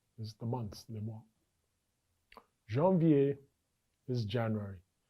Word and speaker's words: janvier: Let us take this opportunity to again go over the pronunciation for the months of the year. Les mois is the months, les mois. Janvier is January.